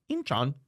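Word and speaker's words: Incheon: launched an assault on inchan inchan that's how you say it in Korean North Korean troops were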